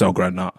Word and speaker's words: Ellgren: I think it's El Green, but like you said, there's an E missing over these, isn't there? So yeah, I think it's El Green. That's El Gren.